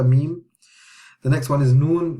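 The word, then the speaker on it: ميم: Meme is the same as English. It's meme, like M. Meme, meme, meme. Just memorize the name of the letter, meme.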